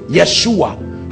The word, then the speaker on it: Yeshua: where they get Yeshua because they pronounce y for Jay Yeshua that's why you see